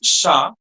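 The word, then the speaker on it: chat: So it's sha. So like if I want to say a cat, it will be a sha because the word sha is masculine not sha.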